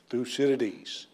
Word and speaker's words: Thucydides: thinker and his name is 1 2 3 through Citadis in unison went through Citadis loud clatter so